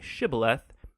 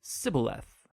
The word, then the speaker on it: shibboleth: It turned out that the Ephraimites had grown up pronouncing that word differently, so instead of saying shibboleth, they would say sibboleth.